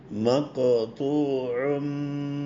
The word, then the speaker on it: مقطوع: മഖ്തൂഉൻ മുസ്ബിഹീൻ. ഖാഫിന് കൽക്കല ചെയ്യാം. മഖ്തൂഉൻ ഖാഫും തായും കനം കൂടി അക്ഷരമാണ്.